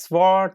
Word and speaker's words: sword: And the Germanic words such as sword and answer contain a silent W.